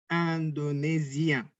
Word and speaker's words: Indonésien: Yuk katakan Indonésien. Indonésien. Oke. Hati-hati karena kita terbiasa untuk bilang Indonesia. Jadi hati-hati lupa IN bacanya A dalam bahasa Prancis ya.